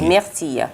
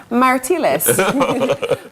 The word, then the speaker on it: myrtilles: Les myrtilles. Myrtilles. Qu'est-ce que signifie les myrtilles? Blueberries. Myrtilles. Les myrtilles. It's not so easy to remember the myrtilles. Parfait. I would literally look at that and say, Martilles. Myrtilles.